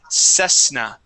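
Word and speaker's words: Cessna: Toyota or Honda okay this is the brand of a plane it is sesna uhhuh there you go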